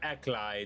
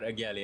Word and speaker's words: Ackley: So it's Tyler Ackley, not Tyler Ageli.